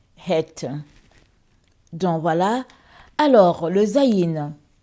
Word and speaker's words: Chet: Alors, Het, ça s'écrit Chet, ça s'écrit avec C-H-E-T, mais ça se lit Het.